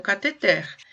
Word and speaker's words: cateter: precisa colocar um catec é um cateter então ela é uma oxítona não tem acento mas é oxítona tá por causa da